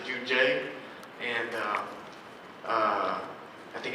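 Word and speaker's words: Juun.J: designer named Jun G I think you guys pronounce it you would pronounce it jun j and uh uh I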